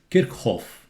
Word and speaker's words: Kirchhoff: any closed circuit is zero you have to pronounce the same way it's kickoff not kickoff okay kickoffs voltage law states that